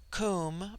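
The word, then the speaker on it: Koom: Immortal Spirit Vidya immortality comb pronounced like the Welsh comb denotes something of hollowness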